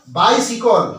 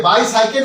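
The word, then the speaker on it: bicycle: আই বাই সি ওয়াই সি এন ই অর্থাৎ বাই সিকল উচ্চারণটা কেমন আসবে ব আকার রসই দন্তসের রসই ক ল বাই সিকল এই উচ্চারণটা আসবে বাই সাইকেল নয় বাই সিকল বিআই বাই বিআই বাই হবে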